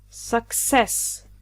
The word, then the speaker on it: success: "Success", the stress is always on the second syllable. Don't say 'SUccess and of course it's a noun, so the stress is always here on the second syllable su'CCESS.